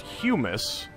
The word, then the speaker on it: humus: I did learn that this is pronounced humus, as in human.